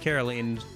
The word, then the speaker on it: Caroline: I think it's pronounced Carolene sometimes by the VA in the English dub cuz then it would be Justine and Carolene. So, they'd both have like the same ending sound at the end of their name.